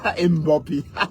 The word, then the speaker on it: Mbappé: La façon de prononcer Mbappé. Voilà, Mbappé.